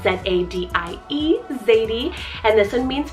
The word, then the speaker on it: Zadie: Making our way down the list here, another Z name, I have Zadie, spelled Z-A-D-I-E, Zadie, and this one means princess.